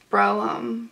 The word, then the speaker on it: Brougham: It's called, it's spelled like Brougham. Brougham? B-R-O-U-G-H-A-M. But it's pronounced Broom, I think. I think that's what the lady said at the castle. I think she said it was pronounced Broom.